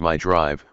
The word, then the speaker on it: Mi Drive: That balanced idea of performance extends to the drive mode selector, dubbed Mazda Intelligent Drive Select or Mi Drive, pronounced as My Drive, which only has 4 modes: normal, sport, towing, and off-road.